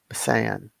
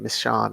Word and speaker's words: Misan: I just feel bad that I've been mispronouncing his name wrong all this time. Misan. Yeah. And I've been saying Miss Shawn, I think, but Misan.